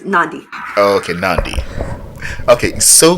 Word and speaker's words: Nandi: It's Nandi.